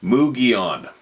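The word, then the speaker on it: Mogollon: I spent a lot of time in the mountains of Arizona and the Mogulon pronounced Mugion.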